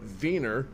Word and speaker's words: Wiener: Actually, if you pronounce it in in German, the W takes the V sound. Therefore, it's a vener.